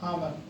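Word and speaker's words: hour: देखो ये ये स्पेलिंग है इसमें यू लेकिन एच लगा दिया एच ओ यू आर आवर आवर means आवर means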